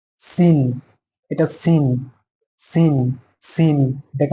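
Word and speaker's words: سين: Scene, এটা scene, scene, scene, এটাকে আমরা কি বলবো?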